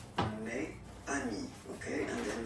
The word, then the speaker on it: mes amis: Okay, it's the plural form, so it's mes amis. Okay, and then let's be purist and make this beautiful liaison between these two words.